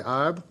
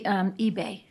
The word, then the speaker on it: Ibe: The chair calls Ibe. Did I pronounce that right? It's actually eBay. eBay. It's actually Nigerian. My ex-husband was Nigerian.